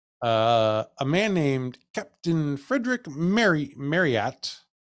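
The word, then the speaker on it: Marryat: man named Captain Frederick Marriott, not spelled like the hotel, M-A-R-R-Y-A-T, Marriott.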